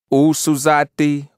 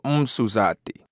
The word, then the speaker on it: usuzati: So usuzi in the feminine form would be pronounced usuzati or umsuzati.